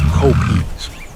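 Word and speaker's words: kopjes: These are the copies pronounced copies, ancient granite outcroppings that defy the flatness of the savannah, creating their own microecosystems.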